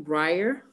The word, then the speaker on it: Briar: name is breyer so you say her name briar um who yeah go ahead what are we gonna say no i guess so briar yeah briar um who she babysits for three